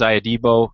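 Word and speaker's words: Ihedigbo: game brandon for me it was james iadibo uh i think that was the the official pronunciation that he gave us when we had him on the podcast so long ago i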